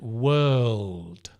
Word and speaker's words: world: word and World well word is shorter word world is a l there's a l your tongue is touching it touches the the top of your mouth world it's behind your teeth right so you get that sound it's like the Deep L world and it's a longer word world very hard to